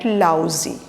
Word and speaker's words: Lao Tzu: So this is actually a Chinese Lao Tzu. Zo, or you can say T is silent, so Lao Tzu.